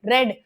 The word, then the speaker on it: read: जैसे रंग वाला रेड होता है ना, उसको इंग्लिश में क्या बोलते हैं, रंग, लाल रंग को क्या बोलते हैं इंग्लिश में, रेड। सेम प्रोनाउंसिएशन है, सेम तरीके से इस वर्ड को बोला जाता है, रीड, रेड, रेड।